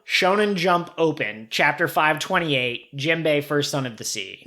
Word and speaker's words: Jinbe: jinbe for whale shark it is spelled with an n so it is gin bay well but they also